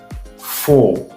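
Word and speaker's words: four: donner ensuite nous avons faux faux donc le R de la fin ne se prononce pas sex donc ce n'est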